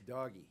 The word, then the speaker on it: DOGE: By the way, it's doggy. Yeah, it's doggy. Fine. It's phonetically.